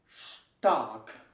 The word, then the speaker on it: stark: ST almost works similar. Start. So what you say is start. ST, st. Stark. Always like st. And this means stark or strong. Stumm, mute or silent, and this is how you pronounce the ST at the beginning, always.